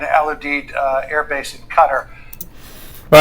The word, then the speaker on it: Qatar: base in Qatar or Qatar, as it's most precisely pronounced, it took place, right?